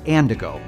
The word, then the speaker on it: Andigo: the credit union is andigo it rhymes with Indigo and it's made up of three words and I go it highlights our promise